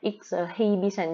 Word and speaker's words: exhibition: các bạn ha, exhibition chứ không phải là exhibition gì nha, cái chữ h này là âm câm đó.